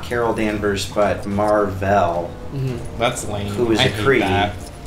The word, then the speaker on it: Mar-Vell: Is the original Captain Marvel, not Carol Danvers, but Mar-Vell. Mm-hmm. That's lame. Who is I a Kree. Mar-Vell. Well, because all the Krees, like their names sound like two syllables.